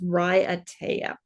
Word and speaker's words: Raiatea: I'm sorry but um I looked it up on YouTube in one of those pronunciation videos and it said that it's Ry ATA so let's hope I'm